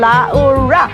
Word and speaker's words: Laura: smile as Tropical Depression Laura enters the Philippine area of responsibility. Accent on the last A.